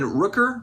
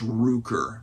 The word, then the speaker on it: Rooker: up and five Brandon Rooker Rooker sorry guys I'm not a baseball person I think I said his name wrong the last time I think it's ruker Brent Rooker anyway Brad it